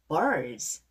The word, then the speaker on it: birds: Birds. Bird 하지 마시고요. R 발음에다가 DS는 Z.